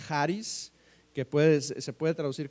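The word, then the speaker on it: χάρις: es gracia gracia eh viene de una palabra griega que se pronuncia haris que pue se puede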